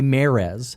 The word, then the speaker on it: Mares: correctly because it mean it looks like it's mares and she goes no it's not Mears it's Marez marah's and Mara can't say